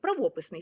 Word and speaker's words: правописний: нас завжди був правописний до 33 року правописний з таким наголосом але правописний так так мав бути правописний а стало правописний як російський Так зараз Нарешті Нарешті ми